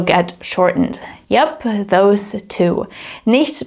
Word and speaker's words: nicht: Nicht becomes just nicht, so you don't pronounce the T.